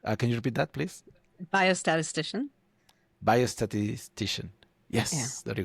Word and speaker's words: biostatistician: She's a biostatistician, I hope to pronounce that correctly, and clinical Biostatistician. development leader. Can you repeat that, please? Biostatistician.